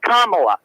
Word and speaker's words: Kamala: The accent is on the first A, Kamala.